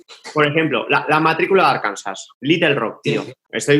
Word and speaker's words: Arkansas: Y sí, se pronuncia Arkansas en inglés.